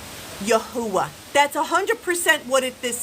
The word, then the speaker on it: Yahweh: Some people decided that they are going to pronounce this Yahwh.